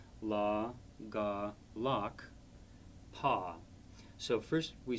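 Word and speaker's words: ལག་པ: So this word again would be spelled la, ga, lak, pa, lakpa, hand.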